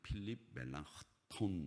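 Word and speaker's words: Philipp Melanchthon: 그 사람이 누구냐면 멜랑, 발음이 좀 약간 이상한데 멜랑크톤이라고 읽어야 된다고 하는데, 멜랑 정확하게 발음하면, 독일식으로 발음하면 필립 멜랑크톤 이렇게 발음을 해야 되는데, 그 사람이 15살 동생인데 이 루터하고 절친이에요.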